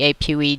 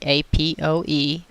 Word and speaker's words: APOE: is this apoE gene you can pronounce each letter separately apoE or some people say a PO e gene it was discovered in